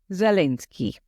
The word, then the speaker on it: Zelensky: A recent meeting between President Trump and Ukrainian President Volodymyr Zelensky. I looked up the pronunciation, so I'm going to say it right.